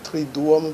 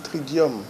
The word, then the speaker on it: Triduum: Dans la Semaine Sainte, il y a ce qu'on appelle le Triduum Pascal. Attention, beaucoup disent Tridium. Non, ce n'est pas dium, c'est duum. C'est deux U qu'on prononce en latin ou.